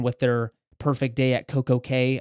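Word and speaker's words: CocoCay: their perfect day at CoCo K I don't understand why they don't call it key because it's I think pronounced key but anyways uh perfect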